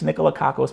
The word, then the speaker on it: Nicolakakos: Can you say nickel and the word caucus? And it's close enough. It's Nicolakakos, but if you just say Nicolakakos, and I think it's helped.